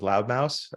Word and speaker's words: Loud Mouse: loud Mouse um and that's Mouse with a not a mouth like MSE like I gotta spell it because everybody thinks I say loud mouth but it's uh it's loud Mouse and uh the the